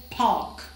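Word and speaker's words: park: pain in द पार्क पार्क में are silent होगा आप इसे प्रोनाउंस करेंगे पार्क with the patient palms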